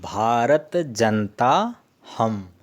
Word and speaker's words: भारतजनताऽहम्: अग्रणी हो गया हनी इसको जब हम उच्चारण करेंगे तो यह साइलेंट हो जाएगा तुम भारत जनता हम ऐसे उच्चारण करेंगे है और अलग-अलग बोलेंगे